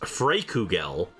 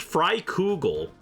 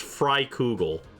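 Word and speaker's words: Freikugel: on how it's pronounced I thought it was pronounced fugel which sounds way cooler but no it's pronounced fry cougal and when I heard that in game I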